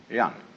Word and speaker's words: Jen: of a human being is called Yan spelled Jen for reasons best known to Chinese Scholars uh I don't know